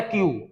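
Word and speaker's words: queue: भी वही प्रोनंसिएशन है क्यू तो जब अकेले का प्रोनंसिएशन क्यू है तो फिर ये दो बार यू ई यू ई लगाने की क्या आवश्यकता ये क्यू जो है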